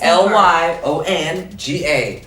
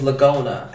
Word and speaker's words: Lyonga: As you can see, my last name is Leonga. For some people, it's hard to say. Leonga. It's Lyonga. Leonga. It's just like it's how you see it, it's how you say it. In the army, Lord have mercy, I heard all kinds of shit. People call it, the one I couldn't get over was Lagona.